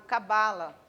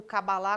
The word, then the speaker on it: cabala: é um tema chamado cabala cabala ou cabalá como dizem os judeus os judeus chamam de cabalá pela sua pronúncia mas nós chamamos de cabala a mesma coisa é